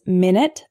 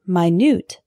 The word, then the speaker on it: minute: of lead lead lead our next one is minute and minute a minute is a period of time 60 seconds for example can I call you back in 10 minutes the word minute is spelled the same way but it's an adjective meaning extremely small for example this isn't an exact replica there are some minute differences minute minute our next heteronym is